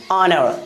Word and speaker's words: honour: अगले example HONOUR, इसे क्या पढ़ेंगे ऑनर।